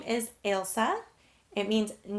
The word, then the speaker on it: Ailsa: Ailsa. So instead of Elsa, you have the AI, so Ailsa.